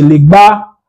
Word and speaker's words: Legba: Azenou, Aginakou prononcé Aginakou, Ageto prononcé Ageto, Legba prononcé Legba, Dangé prononcé Dangé.